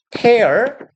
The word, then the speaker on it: tear: 이걸 tear이라고 읽으면 눈물이 되는 거고 tear, tore, torn 이게 동사 버전이에요. 찢다라는 뜻이죠. 찢다라는 동사는 tear이라고 읽으셔야 돼요.